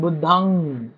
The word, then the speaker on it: बुद्धं: बरोबर आणि त्याला अंग जस आपण बुद्धंग धम्मंगम संघ असं म्हणतो ना तो अनुस्वाराचा उच्चारण तसा बरेच लोक बुद्ध शरणम नाही अंग पालीमध्ये जेव्हा पण आता आपण